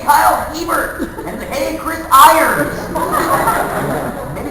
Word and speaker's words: Hebert: know that around here there's a big candy company called hebert's about the same way at the hebert's mansion so okay around here but this is everywhere called yeah so whenever i see him at a convention i'm like i'm like hey kyle hebert and hey chris irons